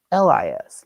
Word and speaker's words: Buzelis: So first name, Matas, like toe Matas. Matas, like Matas. And then Buzelis, last name, Buzelis.